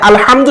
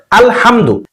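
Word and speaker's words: الحمد: এখানে আলহামদু শব্দের মধ্যে হা রয়েছে। এই হাটিকে কণ্ঠনালীর একেবারে মধ্যখান থেকে প্রেসার দিয়ে উচ্চারণ করতে হয়, হা।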